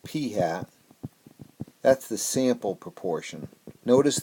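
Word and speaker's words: p̂: proportion um P hat and we pronounce that P hat that's the sample proportion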